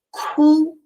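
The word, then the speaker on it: 哭: chorar só esse pronúncia chorar em chinês é cu para primeiro Tom para mim essa essa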